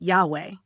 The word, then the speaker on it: Yahweh: But let's be clear, Jehovah is not the original pronunciation of the tetra grammaton. In fact, it's not even a good transliteration. It's a mashup, a misunderstanding of the Maserit system, which was designed to prevent people from pronouncing the divine name. Today, most scholars agree that the closest approximation we have is Yahweh.